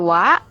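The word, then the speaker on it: は: written in ha, but pronounced as wa.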